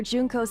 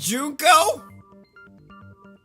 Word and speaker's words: Junko: easily used siaka or Juno's handbook to get into the girl's locker room it's pronounced junko I haven't said it